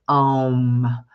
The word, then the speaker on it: Om: We spell it O-H-M, but it's really like A-U-H-M. It's Om.